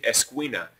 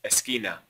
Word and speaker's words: esquina: I have students that start saying esquina. No, that U is silent. It's just esquina.